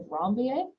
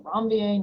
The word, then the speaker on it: Ranvier: These spaces are called nodes of Ranvier. So a French word, so Ranvier, not Ranvier. I've heard all sorts of different pronunciations, but node of Ranvier.